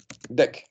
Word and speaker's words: deque: and also known as dec. So deque is just a pronunciation from us, like an English word, but in the programming C++, so the deque also called like a dec.